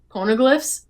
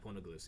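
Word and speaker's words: Poneglyph: Pornoglyphs. Yeah. Pornoglyphs. Yeah. It's kind of like hilogrifics. Pornoglyphs.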